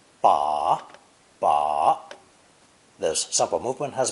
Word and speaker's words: 把: It's pronounced third tone. Ba, ba.